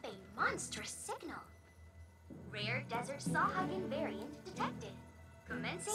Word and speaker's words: Sahagin: Rare desert sawhugging variant detected. Commencing sawhugging protocol. That's how you pronounce it.